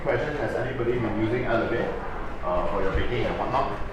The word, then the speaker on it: Elle & Vire: To properly pronounce it, you have three words there. Elle Vire, alright?